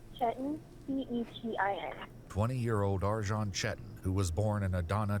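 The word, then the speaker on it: Arcan Çetin: His name is Arjan Chetan, and he's from Turkey, so it's a little strange name, but it's spelled Arcan. And what was the last name? Chetan, Cetin. 20-year-old Arjan Chetan, who was born in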